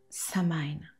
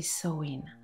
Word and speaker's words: Samhain: païenne nous emmène vers Samaine prononcé soin également aujourd'hui vu par les chrétiens la fête de la Toussin.